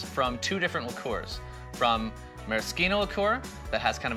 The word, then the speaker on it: maraschino: Next, the maraschino. Spelled the same as the Sunday cherries, but by the strange rules of Italian pronunciation, it is maraschino, not maraschino.